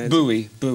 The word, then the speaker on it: Bowie: How do you pronounce it? Bowie.